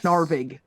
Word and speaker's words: Sarig: me you know yes sarig with a hard G on the end I feel like I